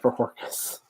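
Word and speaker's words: Bojorquez: How do you pronounce his name? Corey. Bajorquez. Yeah, Bajorquez.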